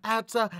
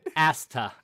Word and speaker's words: Asta: but it means nothing you hate the show so much you can't even pronounce the main character's name right probably not i don't give a asta asta oh as the okay yeah